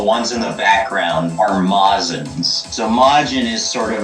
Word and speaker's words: Majin: Majin but the ones in the background are mazins so Majin is sort of like this outlier